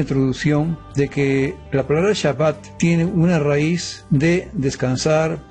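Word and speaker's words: שַׁבָּת: Se encuentra la palabra Shabbat que da la idea obviamente de cesar y terminar la palabra original Shabbat y se pronuncia como lo acabo de mencionar.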